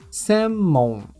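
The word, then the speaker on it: 専門: confundir com essa é semon semon sendo que ao invés do prolongamento da sílaba C temos o hiragana sem semon significa especialidade ou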